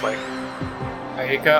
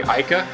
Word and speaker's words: Aika: I don't actually know how to pronounce her name correctly. I've always referred to her as, Irika. I'm pretty sure it's supposed to be Aika, though, now that I